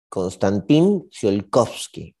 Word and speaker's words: Konstantin Tsiolkovsky: El físico se llamaba Konstantin Tsiolkovsky. Konstantin Tsiolkovsky. Sí, lo pronuncié bien, estoy bien.